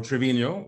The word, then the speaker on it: Trevino: Her name is -Trevino, or Trevino, the way the Italian in me wants to pronounce it.